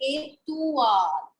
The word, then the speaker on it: étoile: But in French, it is OUA. So that is why we say étoile.